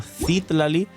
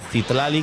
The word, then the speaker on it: Citlali: que sería el Arlequino Citlali o Citlali, que me decís que se pronuncia así los de las personas de México, Furina y Shilonen con toda C0, pero nos beneficiamos más del bufo de Shilonen.